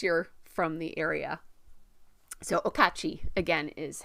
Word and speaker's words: Okauchee: to make any sense but the word is pronounced okachi it's the name of the lake and around